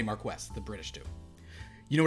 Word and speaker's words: Marquess: That's how the British not pronounce Marquis? it. No, they say Marquess.